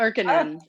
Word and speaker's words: Erkinen: Suppers program, and Taylor Erkinen of the Brooklyn Kitchen. And I pronounced that right, Taylor, correct? You did very well. Oh. Erkinen. Yes.